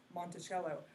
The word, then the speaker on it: Monticello: The town in Arkansas is Monticello, but the President Jefferson's house is Monticello.